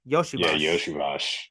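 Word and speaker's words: Iosivas: Yeah, Yoshivas, Yoshivash. Yoshivas. I had to make sure how to pronounce the name because it's a little weird.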